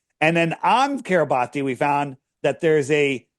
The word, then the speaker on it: Kiribati: And all it says is registered in the nation of Kiribati, or Kiribati, it's pronounced Kiribati, right?